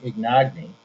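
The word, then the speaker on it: Ignagni: a ceo uh president and ceo uh karen ignogny that's how you pronounce her name and uh she's in charge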